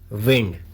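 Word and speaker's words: wound: पूरा और उच्चारण करना वंड इसका अर्थ होता है जखम या घाव और विंड का सेकंड और थर्ड फॉर्म भी होता है लेकिन इसको वहां पर वाउंड पढ़ा जाता है लेकिन स्पेलिंग यही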